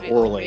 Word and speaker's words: Orly: It's spelled Orly. O-R-L-Y, Orley.